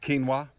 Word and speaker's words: quinoa: you know what stop I know in English is pronounced quinoa I said it you know why cuz that's a Spanish way I'm sorry for my